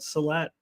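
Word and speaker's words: sehlat: Salat, or how do you pronounce it? Salat.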